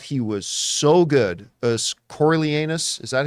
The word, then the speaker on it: Coriolanus: I thought he was so good as Coriolanus. Is that how you say it? Coriolanus, yeah.